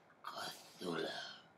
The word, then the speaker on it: Cthulhu: He has kind of different pronunciation of it. Cthulhu. And then it goes with more G sound to it.